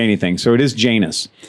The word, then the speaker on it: Janus: Well, I would like to tell you that he's a gentleman because we pronounced it wrong 15 times. And he didn't say anything. So it is Janus. Janus.